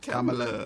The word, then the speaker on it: Kamala: Kamala. Yeah. Like the girl from Games, remember from Saturday Night Live. Right. I just remember when she was doing the little Kamala thing.